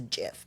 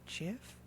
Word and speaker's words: GIF: like I know the correct answer and it's Jiff because no it's not Jonathan Jonathan GIF decided it podcast together and you think I would say Jeff I'm so sorry I'm so sorry I'm sorry